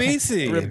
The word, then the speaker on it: Ribisi: Ribisi.